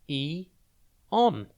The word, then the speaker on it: Aeon: It's pronounced E-on, and it is spelt A-E-O-N. Think A, then E, and then on.